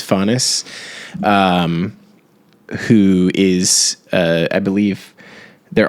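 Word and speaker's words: Phanes: It's Faunus, or I don't think it's pronounced Fanes, but I believe it's Faunus, who is, I believe they're also called protagonists, which means firstborn.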